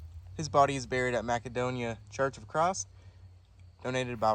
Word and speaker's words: Macedonia: Correction, it's pronounced Macedonia.